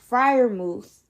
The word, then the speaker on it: Freiermuth: I like what in them getting Pat Freiermuth. Yeah, that's how you pronounce that.